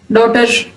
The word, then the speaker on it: daughter: Combination of जी एच is usually silent आफ्टर a vowel sound. किसी भी vowel letter के बाद अगर जी एच लिखा जाता है तो उसमें इनका जो कॉम्बिनेशन है वो साइलेंट होगा, जी और एच दोनों साइलेंट होंगे।